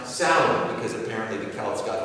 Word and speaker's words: Samhain: In Northern Europe, natives would meet it head-on with the festival of Samhain, actually pronounced Samhain, because apparently the Celts got their W upside down.